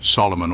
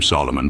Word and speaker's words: Solomon: This interpretation may be fanciful, but it seems true that the king's compatriots called him Solomon, pronouncing his name as an amphibrach, not as a dactyl, as we do.